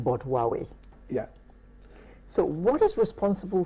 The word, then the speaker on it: Huawei: that correctly thank you Huawei well in my country a lot of people say who are we who are away what is Huawei wow